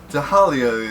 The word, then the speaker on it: Tahalia: is impossible to me tahalia is definitely pronounced the h in her name but she doesn't have a typical h sound doesn't triple h instead